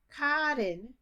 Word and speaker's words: cotton: the words c-o-t-t-o-n and k-i-t-t-e-n ca tin no cotton no cotton cotton kitten uh kitten kitten there's